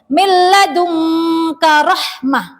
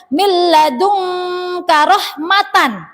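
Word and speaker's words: مِن لَّدُنكَ رَحْمَةً: Harus dibaca hak sukun. Milladunka rahmah. Nah, tidak boleh dibaca milladunka rahmatan atau milladunka rahmata, nggak boleh.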